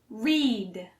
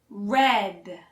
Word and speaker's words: read: Even though the present tense is spelled the same way as the past tense and past participle, it is pronounced differently. Read Read He reads two books to his daughter every day before bedtime.